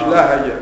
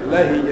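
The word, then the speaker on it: لَهِجَ: قوله ولهج به الصغير كسر الهاء كفرحة لهج مش لهج لهج كفرحة يعني نطق به متكررة أي نطق به نطقا متكررا.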